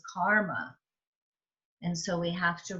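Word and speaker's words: कर्म: and ma right karama but it isn't karama it's karma and so we have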